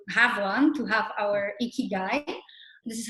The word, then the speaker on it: ikigai: all looking to have one to have our icky guy this is how you spell it ikigai um and basically it's pretty simple